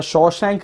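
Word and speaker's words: Shawshank: ये वो रिव्यूअर्स हैं जो शॉशैंक रिडेम्पशन को शशांक रिडेम्पशन प्रोनाउंस करते हैं, तो उनके रिव्यूज़ की कोई वैल्यू नहीं है।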